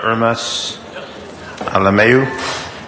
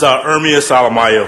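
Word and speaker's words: Ermias Alemayehu: And our final speaker, Mr. Hermes Alameu. Or Macias, I may have mispronounced that. That's all right. It's Ermias Alamayo, for the record.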